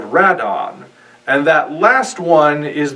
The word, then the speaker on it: Radon: calling rodin red on well that's because rodan is rad on i'm not sure how people have forgotten this but in japan radon is the character's actual name they took the second and fourth syllables from pteranodon and squashed them together to make the name radon the reason it was